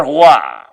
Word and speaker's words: roi: The next thing again is un roi. Of course, look at the pronunciation at the middle there, please. The pronunciation of this word is R-W-A.